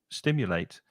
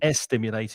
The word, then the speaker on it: stimulate: it's very common, especially if you're a Spanish speaker, to put that before an S. Hmm. For example, well, stimulate. So it's not Hmm. estimulate, it's just stimulate or a stimulant.